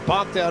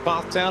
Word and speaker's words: Pfafftown: Coming from Pothtown, North Carolina. Looks like Pfafftown is pronounced Pothtown.